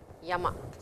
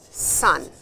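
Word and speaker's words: 山: There are two readings for this character, yama and sun.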